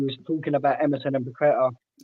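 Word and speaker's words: Paquetá: But what he did mention was about how good Paqueta is and the link up with him and Emerson and that real bond.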